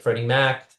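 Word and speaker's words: Freddie Mac: Freddy Mack is kind of like a misnomer if if it's FHLMC, even though it's pronounced like Freddy Mack.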